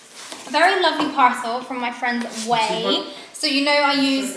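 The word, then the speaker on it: Ouai: How do you pronounce the brand name? Way.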